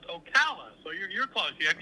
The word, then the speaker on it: Ocala: Osala. Hello. Hey, Dan. You reached out to me by your house out in Osala.